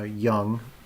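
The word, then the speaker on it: Jung: okay so carl young i know his name starts with a j but it's pronounced uh young like he's not old he's young but uh he was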